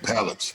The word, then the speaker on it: polyps: And I don't know how to pronounce the word exactly, but polyps, that's the right pronunciation? Yeah, polyps, yeah.